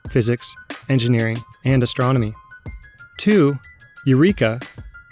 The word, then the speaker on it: eureka: engineering and astronomy two eureka dropping the silent h in a transliteration from greek is widely used as